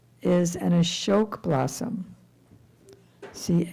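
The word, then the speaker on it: अशोक: A S with a thing on top of it, which gives it a sh sound.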